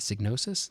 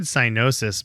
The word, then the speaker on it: Psygnosis: I think that's how you say it, Psygnosis. Does that sound right? I said cynosis, but because I thought the G in the end was like a sound, but I don't know.